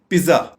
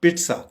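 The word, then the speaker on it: pizza: पिज्जा, आमतौर पे हमारे यहाँ इसको बोला जाता है पिज्जा या पिज्जा, जबकि इसकी करेक्ट प्रोनाउंसिएशन है पिट्सा, पिट्सा, पिट्सा।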